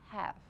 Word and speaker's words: have: It is a V. කියලා දැන් ඉතින් හොඳටම අවුල් කළා තොල හපන්න යන්න එපා. එහෙම නෙමෙයි but පොඩ්ඩක් අපි තොල හපලා I have. Can you pronounce it with me?